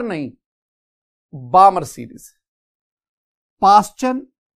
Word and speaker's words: Paschen: पास्चन, PASCHEN, पास्चन series.